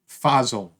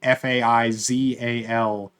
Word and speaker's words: Faizal: Tea series by Hafsa Fazl. I'm sure I'm pronouncing that wrong. It's Hafsah, the first name, and then Faizal for the second name.